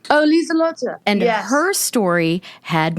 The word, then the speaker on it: Liselotte: Is that how you pronounce her name? Oh, Liselotte.